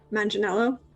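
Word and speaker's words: Manganiello: Is it a hard G or is it a soft G? Manganello? Yeah, soft G.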